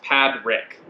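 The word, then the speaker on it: Padraig: This guy's comment says, I'm probably not lucky enough, but if you guys read my name on the video, it's pronounced Pad Rick.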